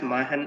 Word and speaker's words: Machenn: the year 2017 and we pronounced it it has mahan innovations it's the c is always silent it's it's actually a